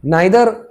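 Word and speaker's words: neither: अब इसी सेंटेंस को ही देख लो, चाहे देखो कुछ लोग इसको नीदर भी बोलते हैं, नीदर भी प्रोनाउंसिएशन आपकी, देखिए आपके स्टाइल के ऊपर है।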